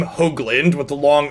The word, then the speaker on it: Hoagland: It's definitely not Hogland. Or Hoogland. It's Hoagland. Long O sound. If it was spelled phonetically, it would be spelled H-O-A-G.